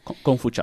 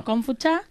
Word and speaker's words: Gongfu-cha: Confucha. Confucha, Si sí, la la pronunciación es pronunciación. Kung Fu. Exacto. Kung Fu como suena igual que el arte marcial, y Cha, que significa té.